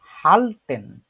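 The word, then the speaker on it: halten: দৌড়ানো দৌড়ানো দৌড়ানো এইখানে একটা আছে এটা হচ্ছে হালটেন আশিক হোসেন তুষার ভাইয়া চেষ্টা করে দেখেন তো এটার উচ্চারণ করে হা আ এল সে এল্টে হ্যাঁ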